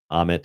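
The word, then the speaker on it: Ammit: Amit is a very nasty looking creature. Crocodile, um, lion, hippopotamus. It's a, it's a nasty looking creature. It is pronounced Amit.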